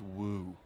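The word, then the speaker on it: wewe: Is that how am I pronouncing Who's that right? using that word? Woo?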